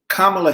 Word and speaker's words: Kamala: Kamala, let me say it right because it's comma with a love. Kamala Harris, vice presidential nominee.